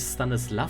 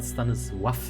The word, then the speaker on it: Stanisław: übrigens wird der Gute nicht Stanisław, sondern Stanisław ausgesprochen. Ich habe eine polnische Kollegin auf Arbeit, die habe mich gefragt, das kleine L durchgestrichen, spricht so wach.